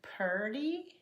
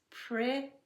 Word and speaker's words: pretty: There are some who would say purdy. You will hear that in a few parts of the United States, but it's really not correct English. It's pretty.